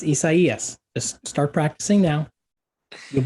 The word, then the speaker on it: Isaias: And for the record, when we get to the I storm, Isaias. Oh, Just wow. start practicing now. Oh, It's not boy. Isaiah. It's Isaias.